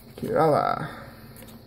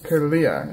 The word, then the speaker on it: Kirlia: Kirala. Or Kirlia is how you pronounce her name.